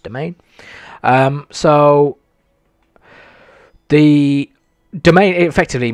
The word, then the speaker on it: demesne: one that looks like demesne yeah actually it's pronounced domain so the domain it effectively means like what